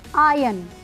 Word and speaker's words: iron: Mummy ज़रा आयरन पकड़ाना, गलत है, क्या होगा करेक्ट प्रोनाउंसिएशन, आयन, क्योंकि आर साइलेंट है यहाँ पे, तो आयन, आयन।